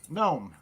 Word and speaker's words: gnome: wait name or gnome gnome get to know the gnome I like that well the g is silent you know there there